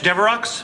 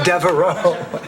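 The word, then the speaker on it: Devereaux: is flowers for blanch deox oh no that's Deo it's only pronounced Deo and limic well blanch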